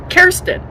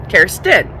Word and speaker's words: Kerstin: my nickname growing up because Kersten that's how you say my name. CARE-stin so um you know